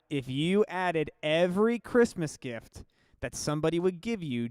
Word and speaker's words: GIF: If you added every Christmas gift that somebody would give you during the 12 days of Christmas, I won't time you out.